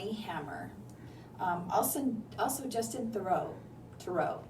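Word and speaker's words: Theroux: um ALS also Justin thoro tooro how do you say his name thorough th okay who's who as we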